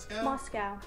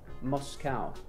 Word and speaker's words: Moscow: Moscow. Moscow. See, Americans say Moscow. We say Moscow. Well, you'd say cow. C-O-W, cow. Why wouldn't it be a Moscow?